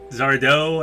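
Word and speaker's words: Sardo: also reminds me of Zardo if you've ever watched are you afraid of the dark Zardo accent on the dough I don't know if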